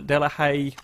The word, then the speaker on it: Delahaye: this crazy-looking car I love it the Adel delahaye that's how it's pronounced yeah thanks heads to be done' hey